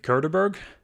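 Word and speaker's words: Cauberg: the Curterburgg.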